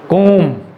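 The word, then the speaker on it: comb: सो कोम, नॉट कोम्ब, ब नहीं आएगा, बी नहीं आएगा।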